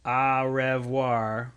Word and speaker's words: au revoir: Avoir is a verb. Au revoir. You don't pronounce the re.